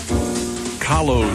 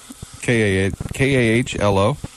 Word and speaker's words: Kahlo: K-A-H-L-O. And it says it rhymes with follow. Kahlo.